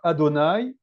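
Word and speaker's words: אדני: On ne prononce pas ces voyelles quand on lit le tétragramme. On dit Adonai. Donc Adonai, ça va être le nom révélé du tétragramme.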